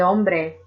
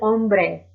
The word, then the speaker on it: hombre: for feminine de el hombre el hombre the man in Spanish the H is silent however the letter J